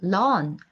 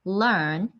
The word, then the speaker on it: learn: learn one lesson 자 learn 하실 때 발음을 좀 주의해 주세요 우리나라말 그냥 larn larn 하시면 are 사운드처럼 잡히기 때문에 앞쪽에서 내쉬면서 러러 learn your lesson 이렇게 가시면 되고요 so